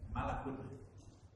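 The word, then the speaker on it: ملك: Mim lam kaf. Kalau kita bacanya malakun artinya malaikat. Kalau kita bacanya malikun artinya raja. Kalau kita bacanya milkun artinya kepemilikan. Milik dalam bahasa Indonesia itu kata serapan dari bahasa milk.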